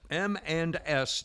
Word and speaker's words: M&S: M&S, and I say it like that because it sounds like eminence.